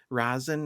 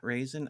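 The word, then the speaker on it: Rasen: I guess it's Razen, not Raisin.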